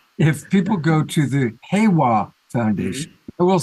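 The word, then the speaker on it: Heiwa: you pronounce it is hawawa yeah like a hey like hey all right so if people go to the hwa foundation I will spell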